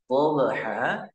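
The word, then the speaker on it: ضبحا: dobha itu haruruf bnya Ba yang sukun di tengah kata hukum bacanya qolqolah Suro qolqolah Suro atau qqolah yang ringan ringan dalam segi pengucapan yang cara membacanya itu ee kita tidak boleh memutuskan suara pantulan kepada huruf setelahnya dobha dobha jadi ketika kita bunyikan pantulan tadi DHA langsung disambut oleh huruf setelahnya nah itu yang dinamakan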